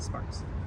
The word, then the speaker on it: Sparks: How do you say it? Sparks. Okay, good. You just go straight to the S.